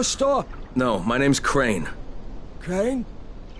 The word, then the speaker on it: Crane: no my name's crane crane crane rhymes with train and brain and sane and gray and rain and plain and the other kind of plane and and